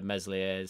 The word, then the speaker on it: Meslier: the second fiddle to meslier's silent s and when i say